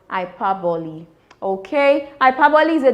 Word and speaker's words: hyperbole: Ipi. You heard me. Not IPA. It's pronounced Ipi.